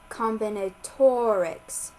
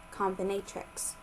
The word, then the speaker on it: combinatorics: chapter 15 combinatorics pronounced combinatorics not comatrix section 15-2 the multiplication